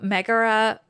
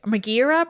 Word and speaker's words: Megaera: These 3 women, their names were Alecto, Megaera, I should say. Megaera probably is the pronunciation, and Tisiphone. It's spelled differently, as far as I know, than the Heracles Megaera, so I'm going to say Megaera.